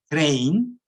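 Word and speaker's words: Krein: It is exactly now I'm showing, and so this is the result of Crane. This is how his name is pronounced, and this is a condition which is sufficient for the non-uniqueness.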